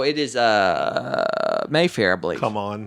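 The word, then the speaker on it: CMON: So it's a hard C. So it should be come on, not Simon.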